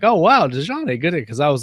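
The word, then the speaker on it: Desjani: Some of our chat group people want to know how you pronounce, and I think maybe I have this, Dejani in Tule. Yeah, that's it. It's Dejani.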